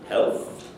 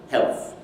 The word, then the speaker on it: health: what happens is that we anticipate the uh the production of that dental consonant so the tongue moves forward so as i pronounce